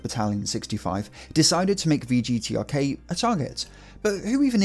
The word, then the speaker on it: VGTRK: Radio Broadcasting Company, but in Cyrillic, its initials are pronounced VGTRK.